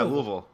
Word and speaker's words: Louisville: supposed to like yeah Louisville yeah you're supposed to say like you have marbles in your mouth like you can't give